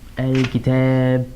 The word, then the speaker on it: الكتابَ: So الكتاب with a 'fatha' here, pronounced الكتابَ.